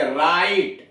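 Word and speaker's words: right: जैसे राइट, आर आई जी एच टी, जी एच के पहले आई आ गया है दीर्घ स्वर, इसलिए जी एच का उच्चारण नहीं होगा।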